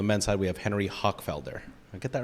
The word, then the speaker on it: Hochfelder: On the women's side, we have Jimena Menendez, and from the men's side, we have Henry Hochfelder. I get that right? It's good pronunciation.